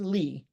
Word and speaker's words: Lee: a different story but my name is Lee and I can assure you that is indeed how it's pronounced I picked it I decide how it's pronounced it is Lee and what am I